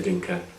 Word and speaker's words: Dinka: We, and I'll go into this in more detail later, we the so-and-sos, we the Noah, we the Dinka, and then within that, we the people of so-and-so lineage within the Dinka and the Noah.